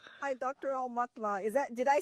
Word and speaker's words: Aumatma: Al Matma is that did I say it right?